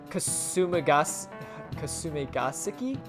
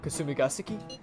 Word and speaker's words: Kasumigaseki: Kasumigaseki? I think that's how you say it. Kasumigaseki?